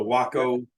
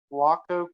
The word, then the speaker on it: Waco: It's called the Waco Kitchen. Waco Kitchen. WACO. I mean, we would say Waco, Texas, but up north they pronounce that Waco for some reason, and they're out of Battle Creek, Michigan.